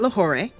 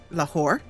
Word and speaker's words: Lahore: We are in Lahore, not Lahore, Lahore.